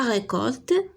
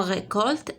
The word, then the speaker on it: récolte: Et dans récolte, C se prononce K.